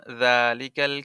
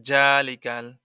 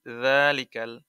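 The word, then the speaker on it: ذلك: এখন যালিকাল কিতাবু লা রাইবা ফিহ, এখানে যদি আপনি বলেন জালিকাল, তাহলে পরে এখানে জিম উচ্চারণ হয়ে যাবে, মানে জালের জায়গায় জিম পড়ে ফেলবেন যদি বলেন জালিকাল, কিন্তু হবে কি যালিকাল, নরম হবে যালিকাল কিতাবু লা।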